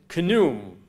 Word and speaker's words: Khnum: And then Khnum. I'm not sure if you pronounce the K and the H, but N-U-M, I'm sure you do.